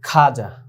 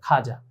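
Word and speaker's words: خواجہ: এখানে আমাদের মন চায় যে আমরা এটা বলি খাওয়া যা, কিন্তু না, আমাদের মন চাইলেই হবে না। উর্দু ভাষার যে উচ্চারণ সহিভাবে করতে হলে আমাদেরকে এটাকে খাজাই বলতে হবে।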